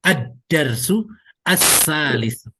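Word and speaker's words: الدرس الثالث: Nah, tentunya ini ketika huruf setelah alif lamnya itu adalah huruf samsiah, maka cara bacanya tidak al, tapi langsung diidghamkan ke huruf setelah alif lamnya. Jadi ad-darsu as-salisu.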